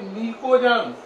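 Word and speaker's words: pnictogens: इन सबको मिलाकर बोलते हैं निकोजन्स। पी साइलेंट है, निकोजन्स।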